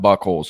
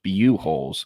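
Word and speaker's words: Buchholz: It's not Buckholes, it's Buholes, apparently, in the Gainesville area.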